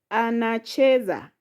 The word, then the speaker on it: anacheza: The next word, anacheza. Anacheza has syllable a, na, che, za.